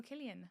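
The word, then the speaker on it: Cillian: So they'll be like oh Killian Murphy but they'll be like oh Sillian Murphy. I'm like you can't even pronounce his name right. What's the right way? Sillian. No. Killian.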